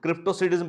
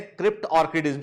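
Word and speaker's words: cryptorchidism: कुछ लोग इसको क्रिप्टोसिडिज्म पढ़ते हैं, पर इसका सही प्रोनाउंसिएशन है क्रिप्ट ऑर्किडिज्म के।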